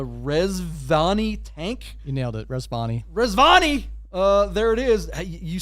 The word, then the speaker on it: Rezvani: This is called and I don't know how to pronounce a Rezvani Tank. You nailed it, Rezvani.